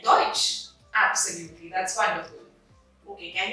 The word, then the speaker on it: Deutsch: And the vowels EU together create a OI sound. So it becomes oi, foi, and moi. Like Deutsch.